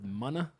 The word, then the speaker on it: MUNA: they're like uh like that pronounced mana yeah right they have a little i think